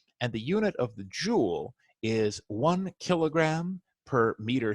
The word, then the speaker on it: Joule: that is the Joule remember Joule rhymes with cool and there is nothing